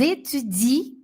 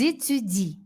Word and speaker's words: étudient: Nous étudions, vous étudiez, ils étudient. Esse aqui termina com ENT, mas não fala. Esse aqui você não pronuncia. Ils étudient, elles étudient.